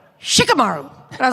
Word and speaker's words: Shikamaru: So I've always had to say Shikamaru. Yeah. But how do you guys say it? Well, at one point, for like 2 years, like 500 years ago, because I'm 90, it was like, Shikamaru.